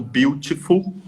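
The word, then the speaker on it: Biutiful: Porque eu já tinha lido, mas fui pegar um capítulo específico, porque ontem eu assisti a um filme chamado Beautiful, só que se escreve B-I-U, se escreve errado, né?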